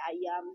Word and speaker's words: Ajam: A jadi di sini ejaannya tuh kayak J tapi dibacanya y gitu kan sate ayam tapi tulisannya tuh Ajam Ajam gitu ini kayak